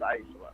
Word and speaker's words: Aicila: I'll name a dolphin after you, and her name is pronounced Aicila, and I'm out.